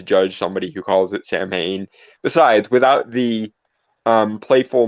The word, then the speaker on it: Samhain: want to say that technically in like Gaelic pronunciation it's so in but I I'm not going to judge somebody who calls it Samhain besides without the um